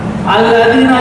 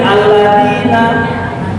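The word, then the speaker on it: الذين: Suga bacanya susah UN baca Quran alladina jadi alladzina alladina dalal jadi Dal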